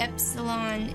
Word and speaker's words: epsilon: as in Tabby and Epsilon is short e as in Gardia okay so these are